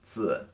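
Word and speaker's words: 子: and this is pronounced su with a neutral tone actually and again it's really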